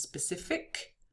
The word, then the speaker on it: specific: So, for instance, specific, it ends with a C, right, but a kind of K sound.